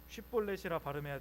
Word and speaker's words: 쉽볼렛: 쉿볼렛이라 발음해야 되는데 쉿볼렛 이렇게 발음했던 것 같습니다.